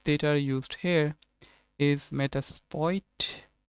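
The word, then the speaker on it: Metasploit: are used here is meta spoit i think l is silent here and denial of service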